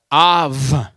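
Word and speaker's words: אב: And it's Aleph, right to left, Beit, without the dot. Now, how would you pronounce that word? Av.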